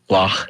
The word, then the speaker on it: Loch: That's how they say it. Loch. If you're Scottish.